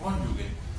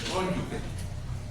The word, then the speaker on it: cónyuge: en donde decían que no se dice cónyugue, se dice cónyuge.